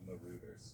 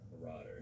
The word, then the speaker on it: Marauders: Harry Potter movie of Marut's you say it marers. How do you say it? Marauders.